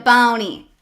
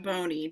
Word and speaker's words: Boney: door opens on rhonda boney sorry let me give you the appropriate name girl rhonda bonnie there you go 40s no it's rhonda boney don't what what okay